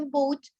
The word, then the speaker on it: boat: The letter A, it's not pronounced.